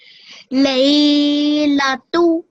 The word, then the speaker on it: Laylatu: So now, just how you said the la and tu, just add that at the end of it. So you were saying it correctly before. You said the first part correctly. Just after that, add the la and the tu.